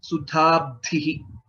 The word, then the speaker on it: सुधाब्धिः: So in this word, if you see, there are two mahapranas, dha and dha again. Sudhabdhihi, Sahayyam, Kaivalyam, and so on.